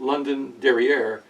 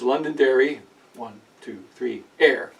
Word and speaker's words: Londonderry Air: It's not Londonderry Air, it's Londonderry, 1, 2, 3, air.